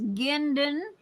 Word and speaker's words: Guindon: Okay, just remember the U is silent. Okay, otherwise, if there was no U, you would have to pronounce it Jinden.